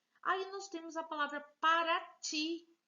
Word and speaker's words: Paraty: Aí nós temos a palavra paraty. Veja que o ti, ele é mais forte. Então, é uma palavra oxítona.